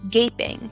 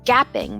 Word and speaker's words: gaping: instruction with for instance i see the word gaping which many students read as gapping with a short a sound misspelling words with an